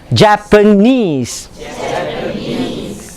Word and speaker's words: Japanese: The pronunciation when you have people like this is Japanese. You stress on the knees.